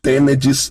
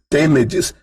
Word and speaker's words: Tenedys: Porque o meu nome é Tenedis. Então se escreve assim, Tenedis se escreve TENEDYS.